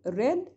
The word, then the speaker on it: read: Because the word read has got three same spellings, but different pronunciation. First form, read. Second and third will be red, red, but same spelling. Since you have got here the word have, then it will be pronounced as red.